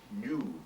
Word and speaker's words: Nu: the voice for Professor new brother Smith it's spelled Nu actually but he's a little bit of a that happened a rehearsal actually I just naturally said new um and that is